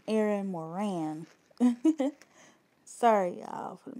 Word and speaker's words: Moran: and I I said her name Aaron Morgan it's Aaron Moran sorry y'all for the